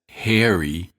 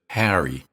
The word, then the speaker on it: Harry: You may hear people pronounce this name as Harry instead of Harry.